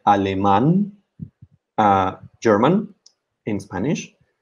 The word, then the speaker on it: alemán: German in Spanish, alemán, where we have the accent on the last A because it's a word ending in N. That doesn't have the stress on the second to last syllable, but on the last syllable.